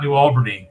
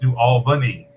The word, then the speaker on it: New Albany: albany and i'm like oh it's not new albany it's new albany and i've sent him